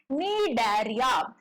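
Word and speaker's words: Cnidaria: आपको लगे वो है डरिया दैट इज इसका स्पेलिंग स्टार्ट होता है सी से एन आई डी ए आर आई ए ये है डेरिया फाइलम फटाफट से थोड़ा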